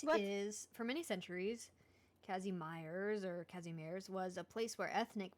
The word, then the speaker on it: Kazimierz: is, for many centuries, Kazimierz was a place where ethnic Polish and Jewish cultures coexisted and intermingled.